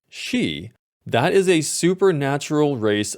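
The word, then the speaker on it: Sidhe: up for this video it appears that it is connected to Old Irish folklore or mythology and is pronounced she that is a supernatural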